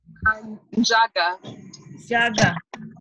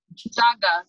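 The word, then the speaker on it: Njaga: How do you say your last name? Jaga. Jaga. Jaga. So the N is silent.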